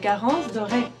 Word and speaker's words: Garance Doré: In French it's like Garance Doré.